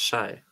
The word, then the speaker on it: Hsieh: Guys, you know her name is pronounced Shay.